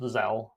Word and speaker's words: Zelle: I looked it up, and it is just pronounced Zelle.